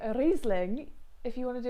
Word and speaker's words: Riesling: is slightly German, is if it has an I and an E next to each other, they flip and reverse around all the time, but always pronounce the second letter, ignore the first letter.